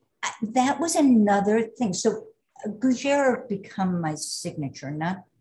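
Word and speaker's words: gougère: And then I love, and I can't pronounce it, gougere. You pronounce it very nicely.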